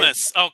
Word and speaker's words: Comus: How do you pronounce it? Komu or Comus? These guys? Comus.